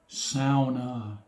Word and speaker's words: sauna: incorrectly the ou is pronounced as in cow sauna and that's one word